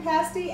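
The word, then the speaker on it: pasty: to do a dessert pastie too, Erika. Is that the way you pronounce that word, pastie? Absolutely. I always thought it was a pastie. No, pasties are something else you wear.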